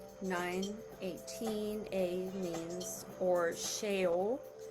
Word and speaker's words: Sheol: A means, or Sheol. It's spelled S-H-E-O-L, if you're into looking stuff up.